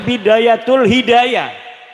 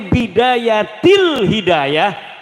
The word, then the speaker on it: Bidayatil Hidayah: Karena deke maca Bidayatul Hidayah. Harus sebah dibacanya Bidayatil Hidayah karena ana huruf jer B.